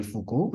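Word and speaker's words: Foucault: Fuko is supposed to be pronounced as Fuko so I read it out as fuk because that's what the spelling makes you think right f o u c a u l t and everybody started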